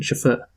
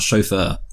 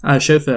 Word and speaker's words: chauffeur: it right Schaffer sure well you were kind of close to the first time the first time you pronounced it right but you got the stress wrong I mean I would say it's about chauffeur chauffeur you can open a bit Schaffer yeah well maybe that's the French of Benjamin out see